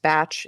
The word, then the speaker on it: Bach: So Dr. Bach, who is British and so should really be pronounced Batch instead of Bach, but we'll we'll go with mainstream here.